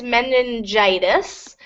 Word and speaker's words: meningitis: are more common, like meningitis, and gastroenteritis. What's the pronunciation? Good. So with this one, it's meningitis. When you see the ending itis, the first I will be a long I.